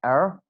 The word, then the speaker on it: her: Her will be pronounced as er.